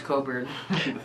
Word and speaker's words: Cockburn: that could be misconstrued for instance Bruce Coburn yes which is actually spelled Bruce cockburn yes and if if the